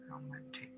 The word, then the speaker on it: romantic: হ্যাঁ, আর ওটা হচ্ছে রো উচ্চারণ হবে, রো। হ্যাঁ রোমান্টিক। Romantic.